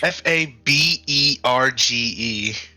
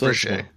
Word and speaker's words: Fabergé: Also, apparently Fabergé isn't spelt the way it sounds. No, it's not. Not at all. It's the French. Faberge. Yeah. That's Fabergé.